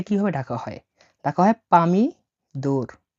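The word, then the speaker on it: помидор: ডাকা হয় পামি দোর। পামিদোর মানে হল টমেটো।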